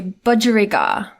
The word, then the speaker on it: budgerigar: And then when it's the full word, you want me to say budgerigar. Oh my god. Okay, budgerigar.